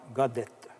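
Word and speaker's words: Gaudet: Pour préciser un peu ce que je veux vous dire, c'est que moi, mon nom est Godette, et puis on l'écrit G-A-U-D-E-T. Mais on le prononce Godette, avec un T-E, qu'on dit. Il y a un Godette qui est arrivé en Canada.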